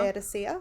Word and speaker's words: Laodicea: church in, I don't even know how to pronounce that, Anna. Laodicea.